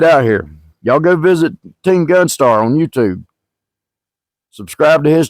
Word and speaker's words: TeamGunStar: The reason I'm redoing this intro is because I got his name wrong. I got his channel wrong. I was calling him Team Gun. It's not. It's TeamGunStar.